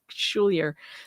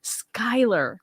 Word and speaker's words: Schuyler: I always say Schulier. Schuyler last name.